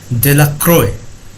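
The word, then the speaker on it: Delacroix: and Harry Jones and Dickie de la cried the villagers pronounced his name De La Croix eventually made a great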